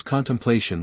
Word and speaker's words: contemplation: day C Daniel 7:9 pronounce contemplation with five syllables it is difficult to